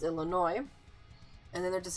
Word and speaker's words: Illinois: say Illinois, I'm like, the S is silent first of all, so it's Illinois, and then they're just like, well, why is there an S?